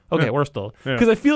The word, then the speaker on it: Wurtle: is that how you pronounce it? Yeah, Wurtle. Okay, Yeah. Wurtle.